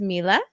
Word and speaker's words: Mila: Uh, is it pronounced Mila? Yeah, I don't. Okay, good. Mila, it's so nice to meet you and have you here.